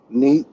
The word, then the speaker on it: Nit: And that's spelled Serkhet. Next, replacing Sagittarius, we have Ramuta. Neat.